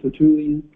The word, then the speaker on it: Tertullian: oil from T I will say it right tulan T tulan tulan and uh 200 his casual